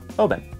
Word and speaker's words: Oban: in the town of Obin and while it's one of the most often mispronounced names in all of whiskey I remember it like open the bottle Obin a visit to this